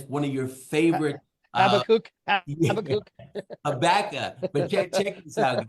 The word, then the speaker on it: Habakkuk: Number one, you're going to hear the pronunciation of the word, and it's one of your favorite. Habakkuk.